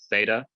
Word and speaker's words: Theta: Theta makes a th sound, a voiceless th, voiceless dental fricative, like the th in thin, not like the and that. Don't use your voice box, just th.